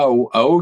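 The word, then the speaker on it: Hao: Bref, et moi, pour me séparer de lui, il m'a envoyé à Ao. Ao, c'est un atoll, ça s'écrit H-A-O, qui est à mi-chemin en réalité à vol d'oiseau entre Tahiti et Mururoa.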